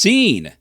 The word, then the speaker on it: zine: here and welcome to another episode of It's pronounced Zen a series where I take a deep dive